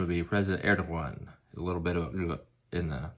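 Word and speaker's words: Erdoğan: of turkey right now his name is president erdogan or correct pronunciation would be president erdogan a little bit in the instead of a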